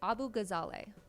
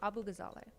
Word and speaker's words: Abu-Ghazaleh: Uh, it's Abu-Ghazaleh. Um, it's like pretty phonetic when you look at it, but just Abu-Ghazaleh.